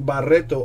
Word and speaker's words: Barreto: A Franklin Barreto auto. There you go. Hit you with the correct pronunciation and all. Had to roll my R's there a little.